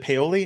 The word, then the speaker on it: Paoli: Is it Paoli? Is that how you pronounce his last name? Yep, it's kind Paoli? of like garlic aioli with a P.